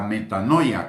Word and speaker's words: metanoia: Señor, y es el arrepentimiento, es decir, la metanoia, que así se pronuncia o así se escribe arrepentimiento en griego, que es un cambio total de dirección, un cambio en el sentido opuesto.